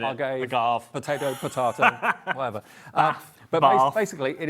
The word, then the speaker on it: agave: Andrew says, it's pronounced Argave. Is that right? Is this Andy Love? It might be. Probably Andy Love. Argave. We'll just carry on calling it agave.